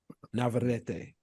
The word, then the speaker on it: Navarrete: Navarrete.